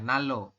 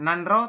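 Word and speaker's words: 난로: naloga isoso ini ya Nalo perubahannya menjadi Nalo ini bukan nanro tapi Nalo ini bukan nanro tapi Nalo dibacanya seperti itu untuk nomor L sampai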